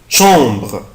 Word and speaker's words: chambre: لو عندي يا اولاد الا ان والا ام الحرفين دول بنطقهم او. الا ان والا ام بنطقها او. زي مثلا شون شامبر شامبر شامبر شامبر اوضه.